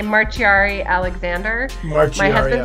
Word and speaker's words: Marciari-Alexander: So you can pretty much say whatever you'd like, but I usually say Marciari-Alexander.